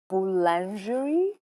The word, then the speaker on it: Boulangerie: So this is a pronunciation test. Okay. ठीक है? I'll try. देख लीजिए, ये है आपका वर्ड. Boulangerie?